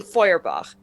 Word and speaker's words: Feuerbach: a correction last week i mispronounced lauren's last name so thank you to uh mr sarah von feuerbach for the correction it is the character i am playing is is lauren von foyerbach um my favorite part